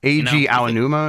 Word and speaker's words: Eiji Aonuma: Eiji Aonuma. How do you say that? Eiji Aonuma is how I say it. I should know. And then I always get corrected.